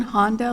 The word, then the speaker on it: Honda: Susan Honda, like the car.